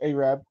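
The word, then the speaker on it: Arab: called a Rabb and it is it is pronounced a Rabb regardless of how do you think but I'm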